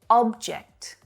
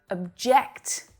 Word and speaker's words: object: verb to consider here an object object is a thing right the stress is on the first syllable but the verb object object means to be opposed